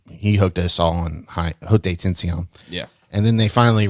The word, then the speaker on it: Haute Tension: Yeah, because I mean, Like high Haute tension. Tension. Yeah, high tension. That was a fantastic movie. I don't call it high tension. It's Haute Tension. If I'm pronouncing that right.